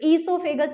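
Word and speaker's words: oesophagus: आपसे क्वेश्चन पूछेगा ग्रास नली, ये ओ जो लिख रहा है ना, ये इसमें साइलेंट है, तो ईसोफेगस ही बोलते हैं इसको। तो ईसोफेगस की लंबाई बताइए, तो आपको बताना है 25 सेंटीमीटर, 25 सेंटीमीटर।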